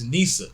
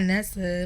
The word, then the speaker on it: Neesa: ] no no that's Nisa yeah but it's like baby some people know some people say my name wrong though too like they'd be like my name's not Nestle my name is Ikea